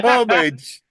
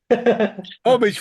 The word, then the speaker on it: homage: It's a homage. Homage from Mr. Jardine. Homage. Homage. Drop the H.